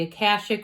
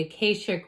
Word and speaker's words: Akashic: So this reminds me of, you can pronounce it either way, the Akashic or the Akashic records.